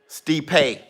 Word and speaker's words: Stipe: Stipe.